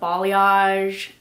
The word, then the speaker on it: balayage: hair color i still see trending is the balayage yes that's how you say it so balayage